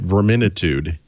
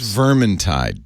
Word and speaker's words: Vermintide: twice to make sure I think I pronounced that right ver minute ood July the tide its vermintide dude firm and tie from